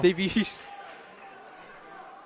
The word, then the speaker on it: Davies: Spanish Davies. There you go. Davies. With like an accent on the I.